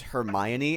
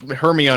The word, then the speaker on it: Hermione: yeah yeah I mean like her me on I think is the most like common mispronunciation of her name it makes sense hurry up yeah I think Hermione makes a lot of